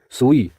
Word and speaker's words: सुई: रूप में करते हैं हम स में ह्रस्व उ की मात्रा लगाते हैं जो अशुद्ध हो जाता है इसका सही और शुद्ध रूप है सुई जब हम दीर्घ उ